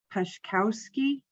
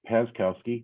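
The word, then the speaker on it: Paczkowski: by the name of pashkowski would you please state your name my name is pazkowski thank you very much that was a great pronunciation uh it's uh p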